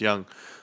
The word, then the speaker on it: Yang: So Su Young, it's pronounced Yang, or it's written Yang, but it's Young.